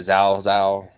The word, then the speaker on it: Zhao: Zhao. The villain? No, it looks like cow, but they're pronouncing it Zhao.